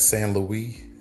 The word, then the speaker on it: St. Louis: And I just remember one guy that's San Louie. It spelled like St. Louis.